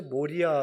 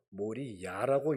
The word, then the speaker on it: 모리아: 태우는 거예요 어마어마한 일입니다 사실 저 모리아 라고 하는 지명도 뒤에 우리는 모리 아라고 썼지만 모리 야라고 읽는게 사실은 맞아요 야가 여호와 여자입니다 야회 그리고 머리라는 동사